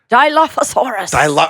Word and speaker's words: Dilophosaurus: Dilophosaurus. Thank you, dinosaur welcome. expert. Yes, the Dilophosaurus. Yes. Good pronunciation.